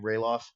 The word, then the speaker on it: Ralof: But it's a pillowcase with how do you pronounce his name? Ralof.